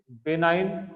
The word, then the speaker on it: benign: Okay, बेनाइन, जी silent इसमें, बेनाइन tertian malaria.